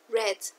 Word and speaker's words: read: Red, ¿listo? Igual en pasado participio. Se escribe como en infinitivo, pero se pronuncia red.